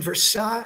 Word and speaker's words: Versailles: We lived in Versail Versailles, Kentucky, which is spelled like Versailles, which is not too far from Lexington.